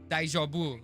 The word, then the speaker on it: DayJobU: So, how do you pronounce that? DayJob. Pronounce it DayJobU. as DayJobU.